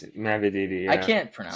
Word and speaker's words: Mavididi: Is this Mavidi? Mm-hmm. It is? Nice. Mavididi. I'm on the board. It's Mavididi. Yeah. I can't pronounce it.